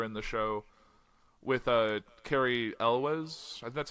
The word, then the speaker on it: Cary Elwes: talked about earlier in the show with a Cary Elwes that's how you pronounce his name yes absolutely that movie's hilarious